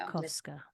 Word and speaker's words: Djiobkowska: Djiobkowska. Yeah, there you go. Djiobkowska. Yeah. It's not a cow. It's a cov. It's a cough.